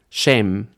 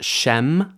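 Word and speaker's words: שם: Holiness in the Bible Shame Shame usually pronounced Shem these days shame means name so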